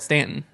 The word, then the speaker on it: Staunton: my mind because like people from the north would always call it staunton and i'm like well no we say it stanton and they're like no